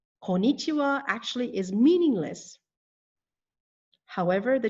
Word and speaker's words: konnichiwa: not be mistaken with konichiwa konichiwa i hear that often konichiwa does not have five syllables as you can see it only has four and it is missing the first n konichiwa konichiwa actually is meaningless however